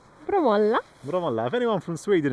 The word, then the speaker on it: Bromölla: as like Bromölla, but here they have the emphasis on the last, what do you call it, Cha? The last part of a word? No, what do you call the last part of a word? Syllable. Is it a syllable? Yeah, so like the last syllable is sometimes extended and more powerful.